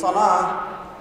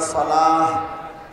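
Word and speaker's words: صلاة: এই সালাত শব্দটি আরবি, এটাকে দুভাবেই উচ্চারণ করা যায়। এটাকে আপনারা সালাহ শেষে হ, বাংলাতে যেটা হ বলি, এটা উচ্চারণ করতে পারে, এটা বিশুদ্ধ।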